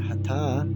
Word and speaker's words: Hatha: I prefer, if you pronounce it Hatha, which is a slightly longer pronunciation on the air, that means Ha is sun and Ta is moon.